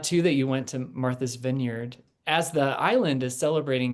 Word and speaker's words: Martha's Vineyard: a mirror and and I I kept saying Marta Vinegar or something. I mean, it was it didn't sound at all like Martha's Vineyard.